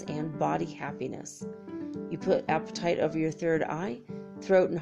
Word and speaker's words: apatite: a sweet there's sweet descriptions right apatite Oh apatite not the way you think it's spelled you know it's not about wanting to